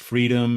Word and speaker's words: FRDM: And I think we had some companies, if I'm not mistaken, Circular, Supply Shift, Transparency One, FRDM, pronounced Freedom, and Whole Chain.